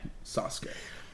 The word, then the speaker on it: Sasuke: American I'm going to go with the correct pronunciation Sasuke and as they enter the ring we see